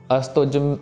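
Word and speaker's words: ਅਸਤੁਜ: देने वाली है कि इसको काफी जने जल्दी-जल्दी पढ़ते समय इसको अस्त्वज ज प्रोनाउंस ठीक से नहीं करते और अस्तज की आवाज ऐसे अस्तित करके आ जाती है या दोनों के दोनों जज्जे हो जाते हैं।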